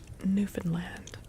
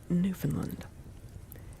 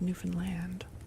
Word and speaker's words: Newfoundland: But apparently you're supposed to really pronounce the word land at the end. So you slur the first bed Newfan that's Newfanland, not Newfoundland.